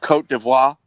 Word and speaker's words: Côte d'Ivoire: And my favorite player of the tournament, by far, it plays for the Ivory Coast, as here labeled in the French pronunciation. Côte d'Ivoire.